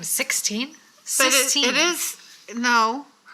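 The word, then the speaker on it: Sixtine: So it's like the chapel, not the number. At first I was like, what's her name? 16? Sistine.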